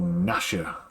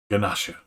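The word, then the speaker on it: Gnasher: dennis the menace's dog is called nasha silent g it's just nasha ganasha and a baby kangaroo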